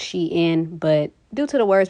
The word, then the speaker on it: Shein: on social media so based on their response it's pronounced she in but due to the words being put together i'm gonna just pronounce the sheen and call it a